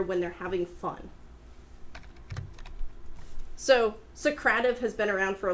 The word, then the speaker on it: Socrative: a long time sidenote I always called it socrata v' but then I watched a video and apparently it Socrative you guys like so I've been pronouncing it wrong my whole life but what Socrative does